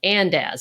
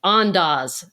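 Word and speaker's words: Andaz: my husband stayed at the andz is another one that's andas forgive me that's the correct way to say it I always say it wrong andas the andas in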